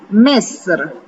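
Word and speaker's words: مصر: মিশর ফার্সিতে হচ্ছে মেসর, মেসর।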